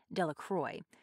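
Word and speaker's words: Delacroix: and harry jones and dickie delaqua the villagers pronounced this name de la croix eventually made a great pile of stones in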